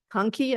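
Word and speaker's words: Konkey: So it's Conkey, I think, K-O-N-C, is that, am I saying it right? Hey, Bill. Yes, Conkey.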